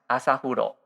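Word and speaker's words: 朝風呂: Yeah, actually, it's a Japanese word and it is pronounced asahuro.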